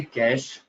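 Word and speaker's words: cache: ठीक है, कैश pronounce, ठीक है, इसको किस तरह से पढ़ा जाए या फिर किस तरह से प्रोनाउंस किया जाए, तो यहाँ पे आपको ब्रैकेट में बता रखा है। ये जो कैश यस मेमोरी है इसको सर। प्रोनाउंस किया जाता है एज अ कैश।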